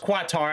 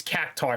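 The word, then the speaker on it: Quatre: take uh catar yes it's not pronounced quatar I thought it was but it's not it's caar for some reason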